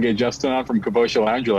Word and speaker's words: Capoccia: Capoccia. Capoccia, correct.